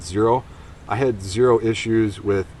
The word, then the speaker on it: Xero: from a different brand this zero shoe xero is is how it's spelled I'm not sure I think that's pronounced zero I had zero issues